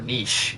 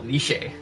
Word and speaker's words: niche: at that point or Niche or I've heard it pronounced both ways I prefer Niche uh it just sounds fancy I mean want to get um super fancy you call nishe nishe Market I never heard it pronounced that way so I doubt that's how um yeah um this